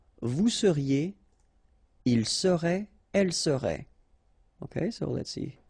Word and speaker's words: serait: seriez, il serait, elle serait. Okay, so let's see how it goes. Je serais, final S not pronounced. Tu serais, same thing here. Il serait, elle serait, final T not pronounced.